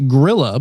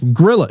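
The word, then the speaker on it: Grýla: their Mischief their mother gorilla is it gorilla or Gua how do you say that probably both ways depending on who you who you're asking grla okay uh their mother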